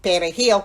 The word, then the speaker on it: perejil: So Haitians would pronounce the word as P E W E R I L And in Spanish, there's the rolling perejil, which I can't roll my r's the perejil.